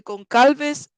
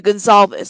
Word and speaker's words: Goncalves: the Idaho murders the con calves family page um the Idaho murders the con calves family I keep saying well there is a c the Gonzalez that's how they say it the Idaho murders the